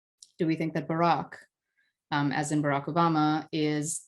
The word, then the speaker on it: Barack: However, it has the wrong pronunciation. It has the pronunciation Barack.